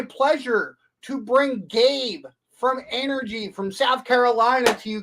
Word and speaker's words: Anergy: do you pronounce it energy with a short a yeah so uh I've